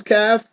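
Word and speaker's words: كَ: So it's a word made of one letter, simply pronounced as ka.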